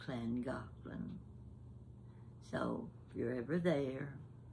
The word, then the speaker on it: Llangollen: Now, if you were looking at that word, you and I, Llangollen starts with a double L, land. And the Gollen is G-O-L-L-E-N, Golan. So I would pronounce it Llangollen. It's Llangollen.